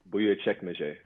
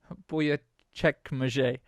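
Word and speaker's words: Büyükçekmece: It's Buyukcekmece. Buyukcekmece.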